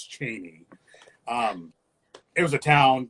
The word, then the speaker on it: Cheney: I call it because that's how it's properly pronounced sorry Spokan people it's not cheny it's Cheney um it was a town kind it was